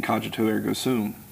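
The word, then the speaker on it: cogito ergo sum: don't realize that after saying kajo erum uh do the hard G if you want to do the classic pronunciation but I think therefore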